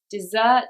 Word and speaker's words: dessert: and desert very hot they have a different stress pattern and that's how we know the difference between them dessert it's on the second syllable desert it's on the first okay rule number four